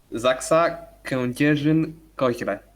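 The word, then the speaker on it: ZAKSA Kędzierzyn-Koźle: How do we pronounce Zaxa properly? Zaxa Kędzierzyn Koźle.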